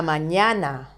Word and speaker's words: mañana: These words, la mañana, la tarde, ella, do you remember these words? We have studied them in other lessons. La mañana is the morning. La tarde, the afternoon. Ella is the personal pronoun, she. So, they end in vowel. So, they should be stressed on the penultimate syllable.